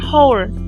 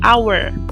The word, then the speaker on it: hour: Nah aja ini nih ini kan tulisannya Ada haknya ya ya kan tak tetapi dibacanya bukan hours tapi our jadi haknya tidak dibaca nah ketika seperti ini